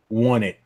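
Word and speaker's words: Onett: Won It. Technically, is what it's pronounced.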